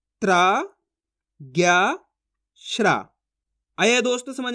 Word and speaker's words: ज्ञ: इसके बाद ज्ञा से ज्ञानी, ज्ञानवान, कैसे करेंगे, ज्ञानी बोलो ज्ञानी, ज्ञानवान बोलो तो इसका उच्चारण आ जाएगा ज्ञा का।